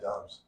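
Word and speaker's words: Doubs: So, I mean, that's How do you say that? Dobbs? Dobbs. Dobbs. Yeah. So he looked good. I always think Dubs when I look at it. Dobbs.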